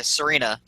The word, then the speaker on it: Serena: I nicknamed my Sarina. Is that how you say it? Yeah, Serena.